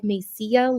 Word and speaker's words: Mesilla: old lady said, honey, there's two L's at the end, so it's like Mesilla, like tortilla. I Yeah. had zero. Double L's to pronounce like a Y.